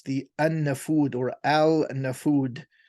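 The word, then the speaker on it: An-Nafud: in capital letters the Anna food or Al and the food the L is actually not pronounced that is a vast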